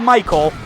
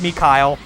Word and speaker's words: Mikhail: Not Michael, Mikhail. It's pronounced Mikhail.